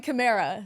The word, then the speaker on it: Kamara: How do you say his last name? Let's go around the room. Let's go around the room. I'm going Kamara. Yeah. I'm Kamara. Yeah, Kamara all the way.